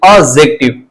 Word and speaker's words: adjective: अब यहां पे लिखा हुआ एडजेक्टिव, लिखा हुआ एडजेक्टिव, लेकिन प्रोनाउंसिएशन करते समय ये डी जो होता है वह हट जाता है, यानी कि ऑब्जेक्टिव।